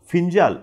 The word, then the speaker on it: Fengal: आहे आणि त्यांनी त्याला फिंजाल असं नाव दिलेलं दिसून येतं त्याचं spelling F इ एन जी एल जरी असलं तरीसुद्धा त्याचं प्रोन्सिएशन फिंजाल असं आहे आता श्रीलंकेवरती ह्याचा मोठ्या